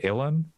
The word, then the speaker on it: Ilhan: Ilhan?